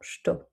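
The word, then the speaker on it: estou: Et ici, vous pouvez entendre que je ne prononce pas le premier E ici, que je rends muet et que je dis directement sto. On peut aussi même entendre parfois to, tout seul.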